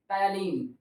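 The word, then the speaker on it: ptyalin: यहाँ पे P silent है, पी से नहीं पढ़ेंगे, टायलिन।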